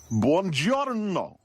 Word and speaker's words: buongiorno: It's pronounced buongiorno. Your mouth is getting lazy on the second syllable.